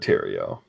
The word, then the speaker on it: Tero: out a conference it's David Tero rhymes with stereo um so yeah that'll